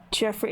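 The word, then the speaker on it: Geoffrey: It looks like it's it would be pronounced like Jeffrey.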